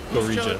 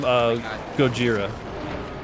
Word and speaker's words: Gojira: James Hetfield, Dimebag Darrell, and why am I going to say his name wrong? Joe Duplinter from Gorija. Who's that? From Gojira.